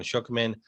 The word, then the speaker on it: Schuchman: And everybody out there listening, look up Shookman. So is spelled normally.